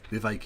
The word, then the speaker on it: Vivek: Sorry, Vivek, it rhymes with cake, Ramaswamy.